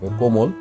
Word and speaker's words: কোমল: কোমল, ময়ের সাথে ও আছে, ও এর আগে এই ক এর সাথে ও আছে, এই জন্য এই অটা ওর মতো উচ্চারণ হয়েছে।